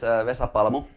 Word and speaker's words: Vesa Paramo: So, my name is Vesa Paramo. That's the proper way to pronounce it. It was pretty close. The name is Finnish, so I'm originally from Finland.